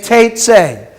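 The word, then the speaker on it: תֵּצֵא: The aleph is silent, so how are you going to pronounce this? Okay, Teitzei.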